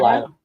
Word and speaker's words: Delilah: Delata. Yep. Delilah. Delilah. Yep. I keep saying that name wrong.